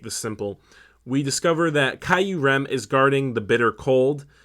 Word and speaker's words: Kyurem: Kyurem.